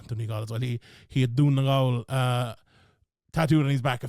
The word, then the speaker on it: Donegal: I feel like anyone from outside of Ireland can say it's pronounced Donegal, so a lot of people call it Donegal or something like that.